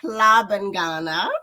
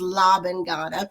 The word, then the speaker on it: Hlabangana: So it's pronounced Hlabangana, right? Mm-hmm. And the Americanized version is Hlabangana. And a Mm-hmm. lot of people do associate it with the Spanish sounds.